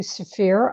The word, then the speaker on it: Zafrir: Zafrir, you nailed it.